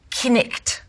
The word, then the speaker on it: knight: The word knight, knicht.